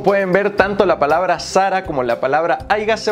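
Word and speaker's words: Zara: El dueño de Sarah.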